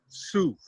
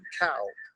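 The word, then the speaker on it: Cao: know the international students her last name is spelled c-a-o and it's pronounced sue when they gave her a diploma they called her hannah cow and it embarrassed the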